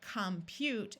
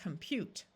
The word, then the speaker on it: compute: accented in English these these O's are going to tend to schah and sound more like a short u rather than a clear a sound so it's not going to sound like compute it's going to sound